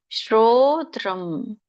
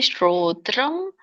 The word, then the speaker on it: ಶ್ರೋತ್ರಂ: ಶ್ರೋತ್ರಂ ಚಕ್ಷುಃ ಸ್ಪರ್ಶನಂ ಚ ರಸನಂ ಘ್ರಾಣಮೇವ ಚ ಅಧಿಷ್ಠಾಯ ಮನಶ್ಚಾಯಂ ವಿಷಯಾನುಪಸೇವತೆ. ಇದರ ಒಂದು ಉಚ್ಚಾರಣೆ ಶ್ರೋತ್ರಂ, ದೀರ್ಘ ಇದೆ, ಒತ್ತಿ ಹೇಳ್ಬೇಕು, ರ ಒತ್ತಿದೆ. ಶ್ರೋತ್ರಂ ಅನುಸ್ವಾರ ನೋಡಿ.